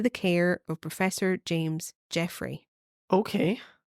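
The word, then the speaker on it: Jeffray: Jeffrey was uh and that's spelled g e FF r a y That's why I'm not saying Jeffrey oh jeffre yes he was a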